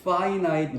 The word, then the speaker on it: finite: 읽는 걸 모르는 사람들이 너무 많아서 이거는 finite 이렇게 읽어야 돼요. finite. 발음 기호 자체가 finite이고 형용사입니다.